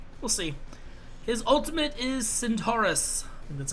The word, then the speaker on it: Centaurus: uh for dueling we'll see his ultimate is Centaurus that's how you pronounce it uh he transforms into a constellation